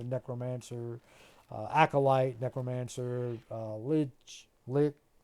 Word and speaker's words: Lich: acolyte Necromancer uh Lich lick it's a Lich King lick well I think it's a lich warlock whatever Lich uh rhymes with Rich it also rhymes with